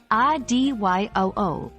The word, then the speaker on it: adieu: leaving College three pronunciation remember ad you is pronounced as I D yo o but don't stress too much on perfecting the French accent the anglicized pronunciation works just fine we hope you've enjoyed